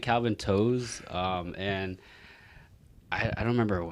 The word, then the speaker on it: To: it's spell t o it's pronounced toe but then like i